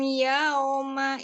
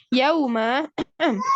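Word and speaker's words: يوم: Bihim Yauma. Yauma kan huruf lin. Waw sukun sebelumnya fathah. Ya, yauma. Maka bacanya nggak boleh yauma. Yauma. Dia kaidahnya seperti waw. Waw kan dengan memonyokkan bibir, maka bunyinya u. Yauma idzil khabir.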